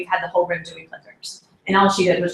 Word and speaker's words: Plickers: Plickers, P-L-I-C-K, oh gosh, I'm gonna say it wrong, like, just like it sounds, Plickers, P-L-I-C-K-E-R-S.